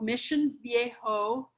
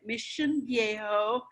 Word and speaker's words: Mission Viejo: little bedroom community called mission viejo and that's how you say it mission viejo not mission viejo no uh we're between